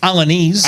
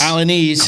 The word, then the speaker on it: Alaniz: So Alaniz. So am I saying that right? Alaniz. Alaniz.